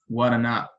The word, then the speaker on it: guaraná: ela tem três sílabas nós percebemos que a ênfase a sílaba que é mais pronunciada que tem a maior intensidade é a última sílaba que é o na não é verdade essa é